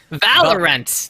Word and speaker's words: Valorant: are going to discuss valorent as am i pronouncing it right dax valve valorent valve run valorent there you go valerian yeah i should know